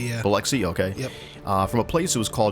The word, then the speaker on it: Biloxi: So on the night of her death, she she was in the city of Biloxi, I think I'm pronouncing that right, Mississippi? Biloxi, yeah. Biloxi, okay.